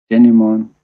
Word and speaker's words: denouement: and we see the denouement. In here, T is silent, by the way.